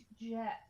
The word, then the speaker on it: Geth: Jeff. It's pronounced Jeff.